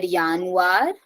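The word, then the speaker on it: Januar: I told that the if a word is starting from J pronunciation will be of why so y yeah y so dare yanu D februar yeah so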